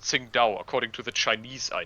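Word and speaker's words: Qingdao: pronounced sing the city of sing da is pronounced sing Dow according to the Chinese I know but here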